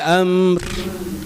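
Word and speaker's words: أمر: Am ya usahakan jangan ada hentakan. Maka gimana, Bu? Kalau kita masih rentan untuk menghent memantulkan ya, amar lagi, amar lagi gitu.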